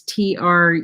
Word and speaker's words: Truong: I think you pronounce it Trong. It's Truong.